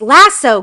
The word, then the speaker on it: lasso: It's lasso, guys. It's lasso. You lasso. You don't lasso. I don't understand why you do a double O sound. There's one O.